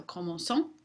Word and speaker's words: commençons: A couple of verbs to look out for are CER verb need the cédille before the ANT. And you can imagine that's because we want the soft C sound. So commençons.